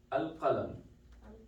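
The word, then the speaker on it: القلم: Al-qalam, just the pen, right? So why did we say al? We pronounce the lam here, right?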